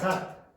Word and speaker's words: sat: but when you say sat, when you say the t, you are going to punch this.